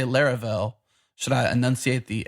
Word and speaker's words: Laravel: I say Laravel.